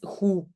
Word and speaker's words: goed: Dat is goed. Dat is goed. OK, donc déjà le dat is est déjà contraction et alors le goed, je ne prononce pas le D.